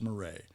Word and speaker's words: Marais: is m-a-r-a-i-s m-a-r-a-i-s and it's pronounced murray find more about her